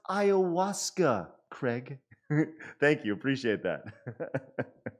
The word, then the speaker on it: ayahuasca: if you're going to peru and you're having aya huska and you go on a spirit journey you're okay ayahuasca okay thank you dandy64.